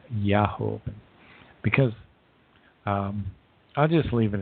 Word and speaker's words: Jehovah: Now, I say the term Jehovah, but at that time it was most likely pronounced Yahovah, because I'll just leave it at that.